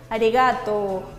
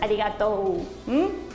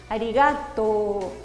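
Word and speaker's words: ありがとう: Por ejemplo, esta palabra que todos conocemos que es gracias, es arigato. No es arigato. Arigato.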